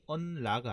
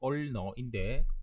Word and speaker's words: ulna: ulnar, 발음이 un라가 아니고 ulnar인데 빨리 하다 보면 자꾸 틀리게 되는데요.